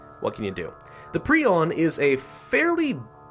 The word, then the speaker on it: prion: do that now I do believe it is pronounced pron I've pronounced it pron in the past but uh I did a little research which means I looked it up on Wikipedia and it said it was preon so I'm going to call it preon from